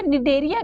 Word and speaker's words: Cnidaria: give D phylum it's नाम इनका इनको देखिए निदरिया क्यों बोला जाता है इन्हीं नेडा साइड सेल्स